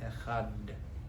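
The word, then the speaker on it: אחד: It's meant to be although the way we say let's, they probably isn't completely right, but echad.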